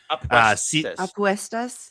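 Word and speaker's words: apuestas: B a Aestus matches. I'll spell that because my pronunciation probably is terrible. It's a p u s t a s aquestas. Aquestas. Thank you very much.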